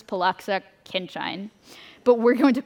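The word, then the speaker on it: Pollaczek–Khinchine: The theory tells us to use the PK formula, which I think is pronounced as Poloxa Kinchin, but we're going to call it PK.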